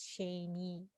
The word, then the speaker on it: Shaynae: My name sounds hard to pronounce, but you can it's pronounced as Shaynae.